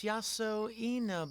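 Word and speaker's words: Yasoinaba: Oh, it's written out beneath the kanji. Oh, it's Yaso Ena.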